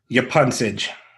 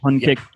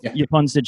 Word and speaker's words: Yapuncich: Yapuncich. Sitch. Yes. All right. I've been not shit. Not Sid. I haven't seen pun kick. Yapuncich. Jeff Yapuncich is here.